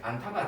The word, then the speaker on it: 않다: 안타가 최종적인 발음이 어떻게 되냐면 안타. 이렇게 돼요. 이게 어떤 변화가 생긴 것이냐? 이 히읗 있죠? 받침에 있는 니은 히읗에서 히읗과 뒤에 있는 디귿이 만나가지고 뭐가 됐다? 티귿.